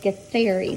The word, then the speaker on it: Githeri: This in our book it says Githeri, but then when we looked it up and Googled how to pronounce it, a lot of places said Githeri, like the TH.